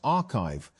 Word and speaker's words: arXiv: Although papers are posted to the site before they are peer-reviewed, arXiv, pronounced archive, has become one of